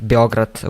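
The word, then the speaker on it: Београд: It's the same for me because I always call Belgrade Beograd, which is like Serbian way.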